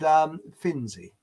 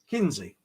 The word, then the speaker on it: Kinsey: What is the similarity between Hancock, Flat Earth bloke, the moon landings, so-called, and Finzi? Hang on, I always get his name wrong. Kinsey.